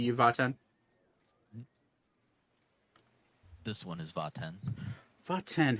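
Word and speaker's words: Vat'en: This one is Vaten. Vaten, how do you spell that?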